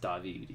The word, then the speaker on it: David: Agent Ziva David, pronounced David.